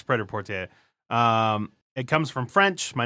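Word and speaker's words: prêt-à-porter: word pred up so we were saying pret-a-porter but it's not a Forte yeah it's pretty port a it comes from French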